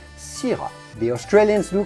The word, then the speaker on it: syrah: have to say syrah in french we would say sira the australians do call